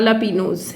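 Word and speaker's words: jalapeño: Pano or Lapino and Jela Pino is written as Lapinose, Lapinose is pronounced as Lapino.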